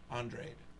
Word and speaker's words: Andrade: Yeah, one of the two guys named Andrade. Only this one pronounces it Andrade. I'm gonna pronounce it Andrade. wrong. I'm not even gonna try. You do it. But then Demetrius, the black kid from America, actually calls it Andrade.